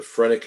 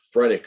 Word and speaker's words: phrenic: is the phrenic nerve nodosphronic spelled with a ph the phrenic nerve is an important